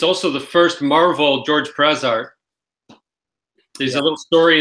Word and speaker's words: George Perez: Perez, that's how he likes it to be pronounced. I wouldn't know it was him. Yeah, I think for those George Perez.